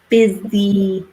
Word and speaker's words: busy: want to mention something about pronunciation so the pronunciation of busy is like an e/m it's not an all busy busy I'm really busy if I know I'm an